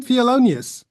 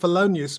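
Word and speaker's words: Thelonious: his name fonus what how do you pronounce his name felonius fonus so I've been pronouncing it felonius monk all my life so maybe I think you could probably get away with fonus monk you sure yeah oh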